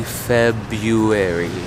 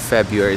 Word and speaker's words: February: pronounce February uh well I would say February February so ignore that first R it is a mouthful